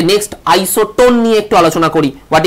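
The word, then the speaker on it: isotone: আইসোটোন যখন বলছো দেখো এন এর উপর গিয়ে তোমার গলার ভয়েসটা একটা স্ট্রোক করছে, this N indicates the neutron.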